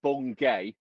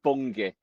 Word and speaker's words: Bungay: Now it's spelled B U N G- A Y. I said bongay. Someone very quick who uh corrected me. It's bungi.